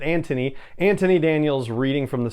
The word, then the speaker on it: Anthony: and then i know i you know americanize it and say anthony daniels but he pronounces it antony anthony daniels reading from